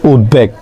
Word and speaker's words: উদ্বেগ: উদ্ভাস্তু, ঠিক তেমনভাবে উদ্বুদ্ধ, উদ্বেগ, তার উচ্চারণ কি? উদ্বেগ।